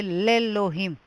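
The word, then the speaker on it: לאלהים: God, I would say lelohim. If I want to say in God, I would say belohim. The aleph is silent in all three words.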